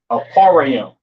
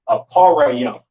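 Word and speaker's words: אפרים: Ephraim in the Hebrew is pronounced Aparayim, Aparayim, all right? Syrian spelling over here, I-Pa-Ra-Yum.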